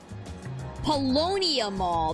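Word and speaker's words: Paulownia Mall: Palonia Mall.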